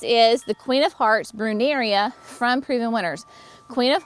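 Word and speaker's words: Brunnera: Then this is the Queen of Hearts Bruneria from Proven Winners. Queen of Hearts, excuse me, it's not Bruneria, it is Bruneria. There we go, Bruneria.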